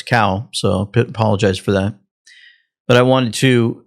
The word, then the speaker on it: Cao: I just realized I said his name wrong. I said How, it's Cao.